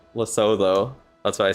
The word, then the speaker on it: Lesotho: It's pronounced Lesotho. Lesotho.